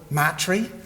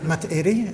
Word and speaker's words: Matairi: We used to call it Matri, but Matairi is the proper pronunciation, so thanks to the Te Hapai program for that.